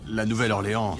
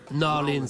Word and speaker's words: New Orleans: La Nouvelle-Orléans, c'est jeune, c'est tendance. New Orleans, chef. New Orleans. Pas Nouvelle-Orléans. Non, d'accord. Ici, ça se prononce New Orleans.